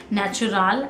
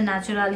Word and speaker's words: Naturale: Now first of ऑल I don't know कि इसको कैसे प्रोनाउंस करना है, नेचुरल है या क्या है. तो I went to Lakme India YouTube channel and मैंने वहाँ 10-20 सेकेंड वाली वीडियोज देखी कुछ, एंड इट was pronounced eight as नेचुरल. सो I think इसे नेचुरल ही प्रोनाउंस करेंगे हम, क्योंकि इसमें एक्स्ट्रा ई है.